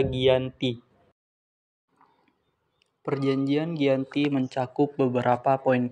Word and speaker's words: Giyanti: Dinamakan Perjanjian Giyanti karena perjanjian ini terjadi di Desa Janti, yang mana dalam pelafalan bahasa Belanda, Janti dibaca Giyanti.